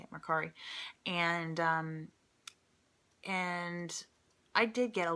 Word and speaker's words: Mercari: That's how you say it, Mercari.